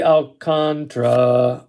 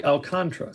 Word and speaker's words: Alcantara: it's pronounced alcantara but sandy pronounces his name apparently alcantra so there you go